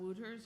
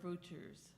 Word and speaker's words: Wouters: Is it Wouters or Wouters? With a V, but it's spelled with a W.